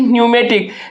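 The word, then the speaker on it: pneumatic: पी एन इ पी एन इ यू एम ए टी आई सी न्यूमेटिक। जिसमें से हम क्या बोले थे कि पी लेटर यहां पर आपका क्या है? साइलेंट है।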